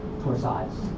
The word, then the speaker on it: torsades: Rhymes with borods, torsades.